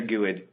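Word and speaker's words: GUID: that gets you generated you guys say quit or gooood but if grids the right way to say it according to me so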